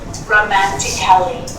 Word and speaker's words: romantically: Now, the letter A can be silent, especially in words that end in A-L-L-Y, like these. Romantically, musically, logically. So I'm not pronouncing romantically, Robert, musically, it's wrong. and logically. Cut the A out.